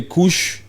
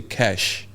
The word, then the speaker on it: Kush: Kush some people say Kush some people say cash but it's spelled KU sh okay Kush Kush this